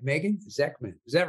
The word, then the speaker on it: Zechman: hope I say your last name right Megan zekman is that right you are right you are